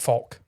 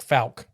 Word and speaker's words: Fouke: an L in it no the people there pronounce it like Fulk with yes but I've heard most the time on TV it's like FAL just must be their accent or something I